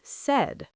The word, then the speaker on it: said: And say becomes said, pronounced like said, like a red bed. Said like red.